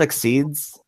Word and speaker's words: XYZ: They're called Exceeds, but XYZ I don't know. is supposed to be pronounced Exceed.